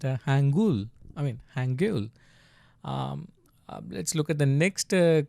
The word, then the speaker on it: Hangul: The language that you are learning right now, it's pronounced Hangul.